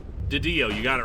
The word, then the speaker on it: DiDio: God, I can't pronounce his name. Didio, you got it right.